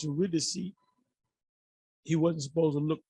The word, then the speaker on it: Eurydice: When he went to get his wife, Eurydice, it's pronounced Eurydice, he wasn't supposed to look, he was supposed to play his instrument, and she was supposed to follow out of hell.